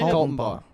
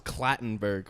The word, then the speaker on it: Kaltenbaugh: But Kaltenbaugh, is that how you say it? Kaltenbaugh. What? You were way off. I always thought it was Clattenburg for some reason.